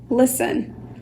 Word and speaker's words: listen: down it's time to listen listen Liz you hearing me is you just don't hear and you also here in you hit lists end but the T once again is silent can you tell ya